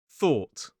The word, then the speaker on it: though: So this time the o u g h is pronounced as an o sound.